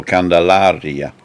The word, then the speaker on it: Candelaria: think they pronounce it candelaria candelaria candelaria because in spanish the second to last syllable the second to last syllable of every word is the emphasis so candelaria but it's um certainly